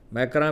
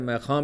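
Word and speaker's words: Macron: Immanuel تو ٹھیک ہے، میکراں بھی کہتے ہیں، میخاں بھی کہتے ہیں، فرانسیسی تلفظ ذرا مختلف ہوتا ہے، اور چینی بھی.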